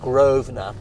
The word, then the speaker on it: Grosvenor: So going back to this area called Mayfair, the land around here is owned by the Grosvenor family, spelt Grosvenor, pronounced Grosvenor.